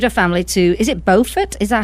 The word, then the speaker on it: Beaufort: family to, is it Beaufort? Is that how you pronounce it? In North Carolina, that is how you say it, but in South Carolina, where I live, it's pronounced Beaufort.